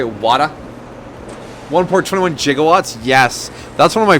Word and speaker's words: gigawatt: 1.21 gigawatts? Yes. That's one of my favorite movie mispronunciations. Because it's not a gigawatt. It's not a gigawatt. It's a gigawatt.